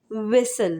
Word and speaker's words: whistle: WHISTLE, विसल, यानी ISTL, विसल।